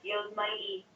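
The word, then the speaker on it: Yosemite: right here this is It's kind of pronounced weird y Mighty National Park yep National Park so yeah a little different than how it's spelled so yeah um a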